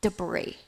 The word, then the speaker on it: debris: We call them debris. Okay, pay attention to the pronunciation.